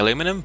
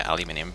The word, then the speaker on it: aluminum: off because I'm saying aluminum, but that's how it is spelt. Yeah, I know, I'm hearing about it too. I mean, if it was spelled aluminium, I would expect to say aluminium, but...